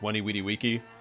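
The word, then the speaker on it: Veni, vidi, vici: Just like Veni Vidi Vici is pronounced Weni Weedy Wiki.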